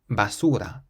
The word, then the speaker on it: basura: Then we have a word that ends in a vowel, so we can stress the syllable before last. Basura, basura, means bin, basura.